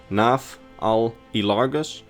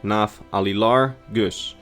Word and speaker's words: Nafaalilargus: his full dragon name, it's probably either pronounced like this in the dragon language, Nafaalilargus, or pronounced like Nafaalilargus, as each name in the dragon language is basically made up of 3 words.